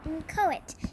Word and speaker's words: inchoate: an adjective our next word is in taunton inchoate it's spelled i n CH o a te but